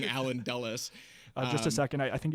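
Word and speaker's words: Allen Dulles: CIA because in my first video I was pronouncing it Allan DS instead of saying alen dullas just a second I think you have a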